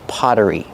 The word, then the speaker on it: pottery: two potteries it's just Pottery pronunciation the Double T makes a fast D sound because it's between vowels Potter Potter Pottery then